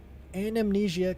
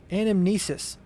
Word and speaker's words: anamnesis: Anamnesia collected. I've been saying it wrong the whole time. Anamnesis.